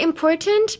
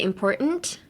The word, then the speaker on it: important: You can say important, but you can also silence the T and say important.